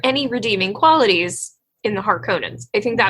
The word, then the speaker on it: Harkonnen: Harkonnen. Harkonnen has no emphasis. Harkonnen.